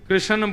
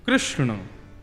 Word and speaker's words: कृष्ण: लाल की बंधुओं कई लोग इस नाम को अशुद्ध बोलते हैं कई लोग कृष्ण बोलते हैं कई लोग कृष्ण बोलते हैं कोई कृष्णा बोलता है भगवान का नाम शुद्ध उच्चारण करो नाम क्या है कृष्ण भगवान जय श्री कृष्ण कृष्ण